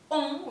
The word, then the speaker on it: ont: Se lee on, ¿sí? Como una nasal, como una O nasal, y se escribe O-N-T. ¿Sí? Tenemos tres letras, pero es una vocal nasal. Cambia el sonido. La T final no se está pronunciando.